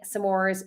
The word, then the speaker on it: s'mores: to say about it I'm staying s'mores the way I say s'mores and I'm gonna say it again sir Mars s'mores there's it's not four syllables I do love them